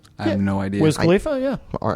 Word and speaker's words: Wiz Khalifa: Wiz Khalifa, yeah.